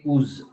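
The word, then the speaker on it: ooze: ಜೊತೆ ಸಂಪೂರ್ಣವಾಗಿ ಮಿಶ್ರಿತಗೊಂಡಾಗ ಅದನ್ನ ಉಸ್ ಅಂತ ಕರೀತೀವಿ ಉಸ್ ಓ ಓ ಝೆಡ್ ಇ ಆಯ್ತಾ ಕ್ಯಾಲ್ಕೇರಿಯಸ್ ಉಸ್ ಉಚ್ಚಾರಣೆ ನೋಡಿ ಕರೆಕ್ಟಾಗಿ ಉಸ್ ಓ ಓ ಝೆಡ್ ಇ ಕ್ಯಾಲ್ಕೇರಿಯಸ್ ಉಸ್ ಆಯ್ತಾ ಇನ್ನೊಂದು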